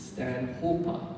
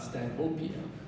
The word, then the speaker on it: Stanhopea: It's Stanhopa and not Stanhopea.